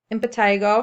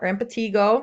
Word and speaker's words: impetigo: to talk about is impetigo or impetigo you can hear it pronounced both ways this often occurs as